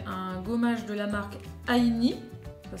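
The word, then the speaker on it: Ainy: C'est un gommage de la marque Aini, ça s'écrit A-I-N-Y.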